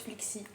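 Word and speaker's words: Flexy: Si vous me connaissez pas encore, je m'appelle FL E XY et ça se prononce Flixy.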